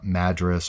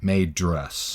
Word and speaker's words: Madras: English it's usually pronounced Madras or modrus hmm and British it's Madras needed majors but there's also a city mm-hmm in Oregon and they pronounce it may dress Mimi dress slightly different